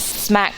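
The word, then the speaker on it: Smak: It's smack, that's spelled s m a k, which is my middle name initial and my last name put together.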